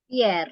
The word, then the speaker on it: Pierre: Ini bacanya Pierre ya, Miss? Pierre, ya nama Perancis nih.